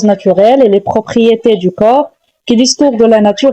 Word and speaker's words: corps: Attention, ne dites jamais corps au corp, c'est le piège ultime de la prononciation française. Les lettres P S à la fin sont totalement muette et n'existe pas. On dit tout simplement corps.